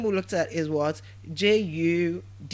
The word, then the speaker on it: Judith: Judith. Judith. I said the name is pronounced as what?